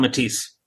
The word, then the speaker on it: Matthijs: Okay, I'll just call him Matisse. There you go. Matisse. I'm sorry. It's fine. It works out. But yeah, the American pronunciation would be Matisse.